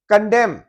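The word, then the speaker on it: condemn: कंडेम N silent है।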